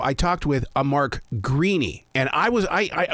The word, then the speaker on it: Greaney: know I I think if you're in Ireland it's an Irish name you're gonna pronounce it greeny and I'm from Memphis